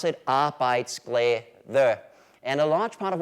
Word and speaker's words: arbejdsglæde: And in case you're wondering, this is how you pronounce it, arbejdsglæde.